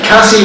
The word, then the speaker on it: Cassie: Cassie rhymes with classy.